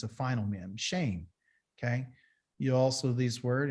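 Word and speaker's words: שם: Shame. Shame is name. Okay, that's what it means. And it's spelled S-H-E-M.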